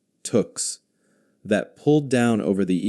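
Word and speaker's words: tuque: Woolen hats that Canadians called tux pronounced like tuks that pulled down over the ears and could be rolled up or down depending on how cold it was.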